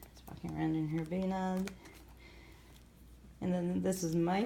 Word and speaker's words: bunad: Oh, this is Nora wearing her bunad, which is. See, I just pronounce that like an American. It's called a bunad.